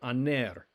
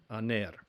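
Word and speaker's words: ἀνήρ: or husband i think we've seen this before aner aner and so that's alpha nu remember it looks like a v but it's really an n alpha nu eda ro a aner the word for is alpha rho we've encountered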